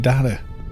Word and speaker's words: data: The Americans say it data, and it's like the T is turned into a D almost.